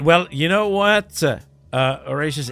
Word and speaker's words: Horatius: By the way, I've been pronouncing with my French accent all day some wood, and I'm realizing, is it actually the proper way when I call you Horatius? Yeah. No, you're pronouncing my name okay.